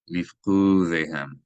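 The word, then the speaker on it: לִפְקֻדֵיהֶם: Lifqudehem. You can see that this syllable should be accented as opposed to this syllable.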